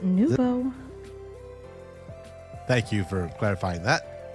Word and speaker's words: nouveau: It's pronounced nouveau.